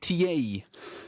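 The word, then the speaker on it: Tiéhi: first tasks is to inform you of the pronunciation of one of the Rotherham players so Christ ta is uh how we are going to insist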